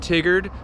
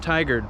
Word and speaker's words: Tigard: from tigard oregon today not tiggered not thai guard it's pronounced tiger if this is your